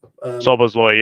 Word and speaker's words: Szoboszlai: Even Szoboszlai, is that how you pronounce his name? Szoboszlai, yeah. Yeah, so obviously I kind